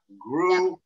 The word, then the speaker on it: Gruach: Nina, Gruach. Grew up. Just think Gruach. Gruach. Gruach. Gruach. Gruach. Yeah, Gruach. Gruach. Two syllables.